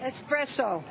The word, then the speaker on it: espresso: Espresso. Espresso, correct. I say espresso, as does most of America, but you are correct.